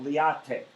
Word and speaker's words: LIATE: We'll pronounce that liate.